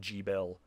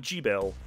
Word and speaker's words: Gebel: I remember the trailer pronouncing his name strange. It's like Gebel. You think it'd be like Gebel.